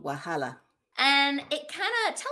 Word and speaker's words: Wahala: you say it my debut novel is called wahala and it kind of tell us what the